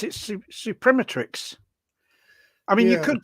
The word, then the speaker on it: Suprematrix: you pronounce this one Ronnie well I I pronounce it supremetrics I mean you could call it Supreme Matrix